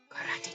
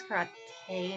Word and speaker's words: karate: Karate chop. I know it's karate, not karate.